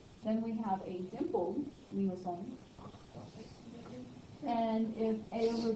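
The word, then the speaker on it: limaçon: So let's hear how limacon sounds. This is a French speaker, hopefully, or someone who pronounces it better than I do. Limacon.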